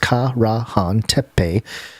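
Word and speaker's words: Karahan Tepe: peculiar chamber this entire perplexing place known as carahan tepe pronounced ka rahan tepe which is now emerging from the dusty plains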